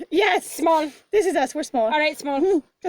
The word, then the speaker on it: smol: Yeah, but you just spell it. S-M-O-L. We are Smol. Yes. Small.